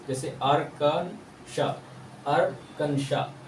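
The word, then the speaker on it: Arkansas: नाम अर्कन सस है ना तो ए को प्रोनाउंस नहीं करना पड़ेगा इसको क्या पेंगे अर्कन श पढ़ेंगे अर्कन श इस को नहीं पढ़ेंगे ये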